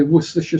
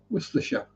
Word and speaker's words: Worcestershire: Worcestershire. And other random silly factoid. Any UK place name that has Cester or Chester in it, spelt that way, not pronounced that way, because it'd be pronounced Ster.